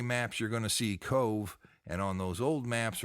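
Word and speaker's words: Cobh: But that Queenstown is really today known as Cove, and that's spelled C-O-B-H.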